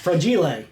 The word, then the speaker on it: Fragel: Her name is Allison Fragel. And Allison, I'm so sorry if I mispronounced that. Fragile. Fra. It's Italian.